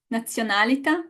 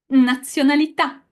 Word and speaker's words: nazionalità: Okay, guys, the correct pronunciation of these three words is città, città. Nazionalità. Nazionalità. Menu. Menu. And you know what? We don't need to guess it or to know it. The word tells us where the stress goes.